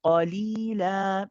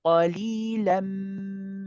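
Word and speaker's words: قَلِيلًا: If you stop on the word qalila, then you also have a mad here. You will pronounce this alif and you will remove one of the tanweens so that you pronounce one fatha. Qalila. However, if you are carrying on, which is better to do, we'll say qalilan ma.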